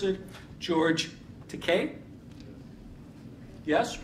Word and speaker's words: Takei: moore if i'm going to correctly or incorrectly pronounce it george takei yes right wrong so that's not too shabby